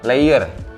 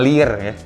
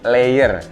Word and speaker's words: Leior: kita biasa denger ya ini dibacanya adalah leier bukan lirik jadi layer jadi ini adalah brand